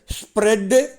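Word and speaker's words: spread: 17 பாருங்கள், ஸ்ப்ரெட்டு ஸ்ப்ரெட்டு ஸ்ப்ரெட்டு. அதை உச்சரி பாருங்கள், ஸ் பு ரே, கடைசியாக அதிரும் ஓசையோடு வர்ற இட்டு.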